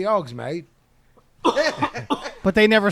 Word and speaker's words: Hogsmeade: Well, fucking Pablo looked it up and it said pronounced mead or made, and then I've never seen it, but I'm like, well, Hogsmeade in a British accent will be Hogsmeade.